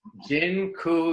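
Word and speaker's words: dziękuję: just taught you all the polish word for thank you it's Jin ku yeah that I'm not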